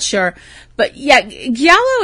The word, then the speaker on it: giallo: into that, giallo it's and if I'm pronouncing that wrong, anybody out there who's Italian or speaks Italian well, you can write me and say, giallo, isn't it? You're an imbecile. What? It's giallo. Giallo.